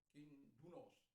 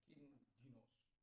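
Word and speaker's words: κίνδυνος: Lalu yang kemudian, kindunos, dari kata kindunos, tapi bacanya kindinos, upsilon di situ. Upsilon itu atau ipsilon itu dibaca i.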